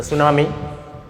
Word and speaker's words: tsunami: लिखा है, part the सुनामी, T silent रहता है इसमें।